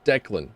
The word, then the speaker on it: Declan: It's like, no, it's Declan. You have to actually pronounce shit. There's like an L in there.